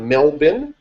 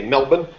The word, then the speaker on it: Melbourne: study this is an Australian man out of melbour did I pronounce it right guys Melbourne Australia it's spelled